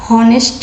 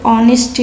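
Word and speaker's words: honest: आप बोलते हो तो यहाँ पे हॉनेस्ट यहाँ पे नहीं होंगे, यहाँ पे ऑनेस्ट से पढ़ा जाता बोला जाता।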